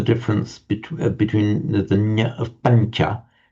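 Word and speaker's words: pañca: which is a pancha, we write that tilde sound over the n because it's a slightly palatized sound. Pancha, not pancha or pancha, but pancha. So the n is slightly palatized before the following sound ch.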